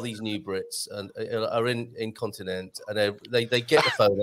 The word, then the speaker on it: Continente: We're always tempted to go ente, aren't we? And you don't ever pronounce the e like that. It's you like continente.